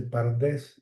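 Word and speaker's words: פרדס: Y las vocales a y e se añaden para poderlo pronunciar, no se podía decir, sino que se dice pardés y es una forma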